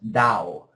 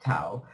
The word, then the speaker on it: Tao: the Dao of Pooh it's actually pronounced Dao not Tao I may read this